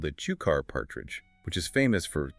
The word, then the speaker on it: Cukor: He had a powerful sense of identity and insisted everyone pronounce his name correctly. Cukor.